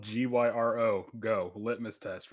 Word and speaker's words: gyro: How do you Yeah, how do you pronounce the word that's spelled GYRO? Go litmus test right now. Sorry, what? Is it gyro? Is it euro? What is it? it's euro.